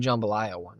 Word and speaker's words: jambalaya: But yeah, dude, like he literally he made jambalaya one Friday, like yeah, my recipe, my family recipe, jambalaya. Oh, nice. Jambalaya, that's how he said it. That's how they say it.